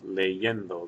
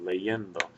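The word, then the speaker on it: leyendo: le in like that now say this word uh this word leendo by itself leendo leendo the stress that you hear is over that e right before the N so the stress on leendo is right here and it happens to be the one two third syllable back from the end of the word so that's why have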